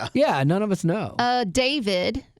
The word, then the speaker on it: D4VD: David. But it's spelled D4VD.